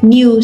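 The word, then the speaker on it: know: New, so K is a silent letter.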